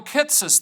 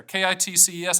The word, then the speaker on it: Kitces: and you have michael kittses there kitces i think that's the way to pronounce it i read this stuff